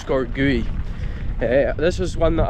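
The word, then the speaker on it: Sgòr Gaoith: one i've done before a score gui or score golf whichever way you say it i think it pronounced score gui yeah this was one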